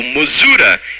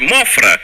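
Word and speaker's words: Mothra: chamam de mostra o mosura eu chamo de mostra porque as versões quero assistir os filmes eram as versões em inglês e a pronúncia era mostra semelhante a palavra em inglês imof significa Mariposa botando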